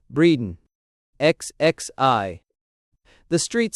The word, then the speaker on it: Bredon: pronounced breeden xxi.